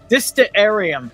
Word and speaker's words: Distillarium: You pronounce it like the planetarium on South Park? The planetarium? No, Distillarium. There you go.